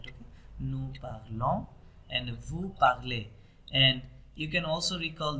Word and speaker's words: parlez: nous parlons, and vous parlez. And you can also recall that if we have ez, then we have what sound, a sound.